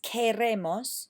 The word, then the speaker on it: queremos: or she wants, queremos, without the que, it's queremos, no I, there's no I in it.